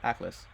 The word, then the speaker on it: Aklys: Atlas.